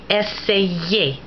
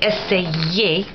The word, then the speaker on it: essayer: And it's used in words like yaourt, yogurt, essayer, to try. Now notice that when you say essayer, you really roll on the Y. You can't do that with an I. In that same verb, essayer, to try, it begins